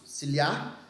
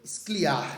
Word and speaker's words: Scliar: do ciliar do Carlos ciliar e aí é importante né é Scliar né e a pronúncia correta E conforme a escrita no quintal da casa